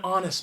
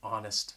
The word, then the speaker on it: honest: It's an honest mistake, all right? That H is silent, an honest mistake.